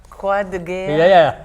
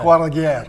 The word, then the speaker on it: Croix de Guerre: Croix de Guerre? Yeah. What did the Croix de Guerre.